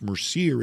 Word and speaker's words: Mercier: It's pronounced Mercier.